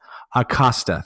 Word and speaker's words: Acosta: gym and forgive me has his last name pronounced Acosta thank you I want to get into that